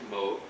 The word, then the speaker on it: Moog: You may hear me pronouncing it Moog. That's the correct way to pronounce it. Some people will say Moog, but that's the way he pronounced it. That's the way we do it here.